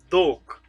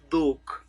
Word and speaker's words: dhok: Dhok.